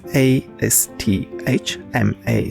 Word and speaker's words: asthma: do you have Asma so this is a s t h m a so we're going to pronounce asthma all right asthma do